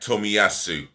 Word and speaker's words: Tomiyasu: The right back, Tomiyasu. I'm going to pronounce his name again.